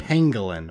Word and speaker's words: pangolin: postopengolin stop it pangolin it's pangolin pangolin why is it pangolin now you're talking like a east coast piece of it is just how it's pronounced no no it's not